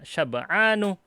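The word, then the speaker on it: شبعان: Bacanya syab'anu. Tidak pakai tanwin.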